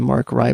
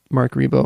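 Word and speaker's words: Marc Ribot: about Mark rebo which Nell's very subtly and and nicely corrected my pronunciation I've called him Mar cry before ever but Mark rebo and Who am I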